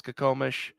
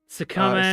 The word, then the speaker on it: Skokomish: Also, Chiba is throwing down a gauntlet for pronunciations of Washington state names. Oh. Yes, Skokomish. Skokomish.